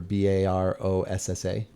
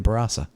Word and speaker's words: Barossa: at work sometimes the how to say the word Brasa remember b-a-r-o-s-s-a and we were saying Barossa oh we got a lesson from somebody yeah that's right barasa yeah oh yeah that